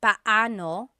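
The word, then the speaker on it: paano: It's technically pano. Pano when there are two vocab or when there are two vowels together, you say them separately. But when speaking quickly, Filipinos just say now let's practice using pano and gano in some questions.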